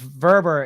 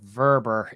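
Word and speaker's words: Wöber: why um that's that Max verber is the pronunciation they've been told verber is the pronunciation of the player and Max verber to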